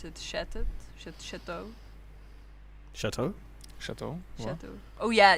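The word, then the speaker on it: Chatot: Oh, how do you pronounce it? Chat Chatau.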